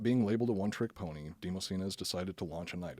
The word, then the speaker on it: Demosthenes: The general sent to assist in the campaign was a man named I'm pretty sure it's pronounced Demosthenes or Demosthenes.